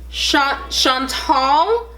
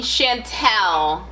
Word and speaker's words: Chantal: I mean Chantel. I'm sorry. Is it Chantel? Chantel or Chantal? Actually, you pronounced it correctly the first time, but obviously my skin color has now changed my name pronunciation, but sure, whatever.